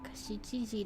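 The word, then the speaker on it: 七時: Oh, at least it pronounces it Chichiji. Good morning. It is 7 o'clock. 7時7分です。 It is 9 o'clock. 9時です。今は8時ではありません。 It is not 8 o'clock now. Now! It is 7 o'clock. Shichiji desu.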